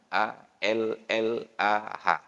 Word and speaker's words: Allah: Kamus Besar Bahasa Indonesianya a l l a h Tapi bacanya wajib Allah sedangkan Romadhon memang tertulis